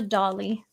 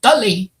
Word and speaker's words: Dolly: My father's father, he spoke Polish, Russian, and English, and a couple other languages, and he'd say Dolly. Dolly. That- Yeah, the emphasis would be on the first syllable.